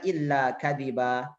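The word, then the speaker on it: إلا كذبا: Ketika waqaf dibaca illa kadiba. Illa kadiban dibaca illa kadiba.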